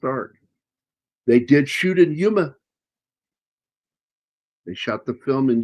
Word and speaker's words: Yuma: They did shoot in Yuma. They shot the film in Yuma. Yuma or Yuma? It's Arizona. I know it's Yuma. It's Y-O-M-A. I know. No, Y-U-M-A.